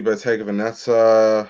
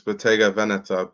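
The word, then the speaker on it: Bottega Veneta: there was um obviously beta vaneta well that's not how you pronounce it it's beta vaneta but yeah beta vaneta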